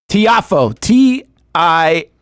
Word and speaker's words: Tiafoe: T-I-A-F-O-E.